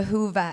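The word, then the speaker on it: Whova: online of course through the hoova app that's how you say it Hoover uh the Hoover app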